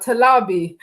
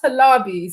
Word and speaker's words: Talabi: the name comes from it's pronounced completely different with a whole nigerian slang to it to my italian version of talabi so they have tala b and i'm like talabi so it's like yeah